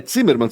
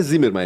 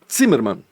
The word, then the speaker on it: Zimmermann: É Zimmermann, tu sabias, né? Que o Z é TZ. O Z se pronuncia TZ em alemão. Zimmer. Não é Zimmermann, é Zimmermann.